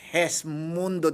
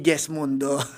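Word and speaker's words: Gesmundo: So hesundo dapat ang pronounce daw. Ah okay. Hindi hindi guest mundo.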